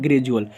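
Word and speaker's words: gradual: करते हैं ग्रैजुएल होता है क्या होता है ग्रैजुएल क्योंकि दी से दी से पहले कुछ वर्ड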